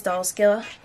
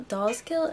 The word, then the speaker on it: Dolls Kill: be looking at is doll skill dolls kill dolls kill i i think that's how you say i don't know if it's yeah it's dolls kill i don't know why i say it wrong but i never ordered